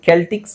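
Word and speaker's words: Celtics: ಇದು ಎರಡು ತರನು ಹೇಳಬಹುದು ಕೆಲ್ಟಿಕ್ಸ್ ಸೆಲ್ಟಿಕ್ಸ್ ಎರಡು ತರನು ಹೇಳ್ತಾರೆ ಅದು ಗೊತ್ತಿಲ್ಲ ನನಗೆ ಯಾಕ ಹಂಗೆ ಹೇಳ್ತಾರೆ ಅಂತ ಬಟ್ ಎರಡು ತರನು ಇದೆ ಸಿ ನ ಕೆ ಅಂತನು ಹೇಳ್ತಾರೆ ಇಲ್ಲಿ ಸೆಲ್ಟಿಕ್ಸ್ ಅಂಡ್ ಕೆಲ್ಟಿಕ್ಸ್ ಅಂತ ಹೇಳ್ತಾರೆ ಇಲ್ಲಿ ನೋಡಿಸಎ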